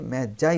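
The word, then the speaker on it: Magi: Okay, I স দ্য ম্যাজাই, এটিকে কিন্তু অনেকে ভুল করে ফেলে, ম্যাজাই উচ্চারণ হবে, অনেকে মাগি উচ্চারণ করে, কিন্তু তা হবে না, এটা হচ্ছে আই স দ্য ম্যাজাই।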